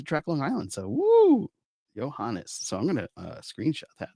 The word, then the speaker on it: Johannes: I told you it was Johannes. I'm saying your name wrong this whole time. Oh, terrible. I told you that's how you say his name.